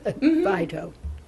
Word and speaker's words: phyto: That's Phyto. Oh, almost like photo. Phyto.